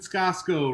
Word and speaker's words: Scosco: And Scosco, rhymes with Costco and Bosco.